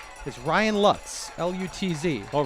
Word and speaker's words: Lutz: L U-Tz. Oh, really? I assume it's pronounced Lutz and not Loots as Ryan Lutz's name is pronounced here for West appear.